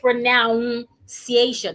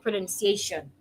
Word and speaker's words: pronunciation: Now, I didn't say pronoun-ciation. It is not noun. If you look at the spelling of pronunciation, there is no noun in the spelling. The word has n u n, not n o u n. So, there is no noun there. It's nun. Pronun- pronunciation. Pronun- pronunciation. Pronunciation.